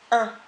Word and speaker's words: im: début du mot, avec le préfixe « un »,« im », ça se prononce « un ».